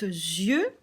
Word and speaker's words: yeux: J'ai aussi enlevé la carte yeux, parce que vous voyez, c'est yeux, mais ça se prononce, on dit des yeux. Du coup, ce n'est pas le son ye, mais le son ze.